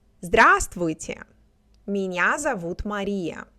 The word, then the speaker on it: Здравствуйте: Здравствуйте, меня зовут Мария.